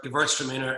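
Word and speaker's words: Gewürztraminer: It's a German word, Gewürtztraminer. Anybody who's lived in Germany or that won't have any trouble with it.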